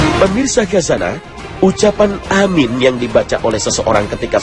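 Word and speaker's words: آمين: Amin diucapkan dengan memanjangkan a dan mi yang berarti kabulkanlah ya Allah. Dalam hal ini perlu diperhatikan panjang pendeknya ucapan amin, karena jika tidak tepat panjang dan pendeknya bisa berarti lain.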